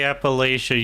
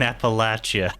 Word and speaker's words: Appalachia: Just say Appalachia, you bastards. Stop saying Appalachia. It makes me upset. Say it right.